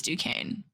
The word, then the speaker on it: Duquesne: Or like how you say, don't ask me, but it is Duquesne. Yeah, phonetically it looks like Duquesne.